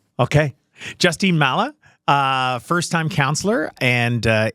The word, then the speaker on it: Mallah: just how do I say your last name Mala Mala sure that's great did I say it